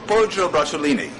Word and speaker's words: Poggio Bracciolini: guy who was the Pope's secretary, is it Poggio Bracciolini? Poggio Bracciolini.